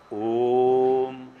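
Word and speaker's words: ओम्: हम कहते हैं ना AUM अंग्रेजी में लिखते हैं, आ उ मा हिंदी में लिखते हैं, जब उच्चारण करते हैं तो ओम लिखते हैं।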